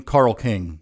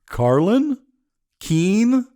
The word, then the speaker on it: Carl King: spell it out because inevitably the person will say carlin keane or carlin keane i've also had more